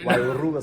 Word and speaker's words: Wairua: Probably didn't roll. I need to roll my tongue a bit. Wairua Spirit.